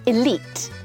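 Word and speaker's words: elite: 있는이 단어죠 맞아요 여러분 EL 맞아요 물론라고도 하는데요 elit elit라고 대부분 씁니다 in famous 하면 안 돼요 악명 높은이라는 단어는 infamous infamous고 발음합니다 determine determine이라고 발음을 합니다 알아내다 결정하다 확정하다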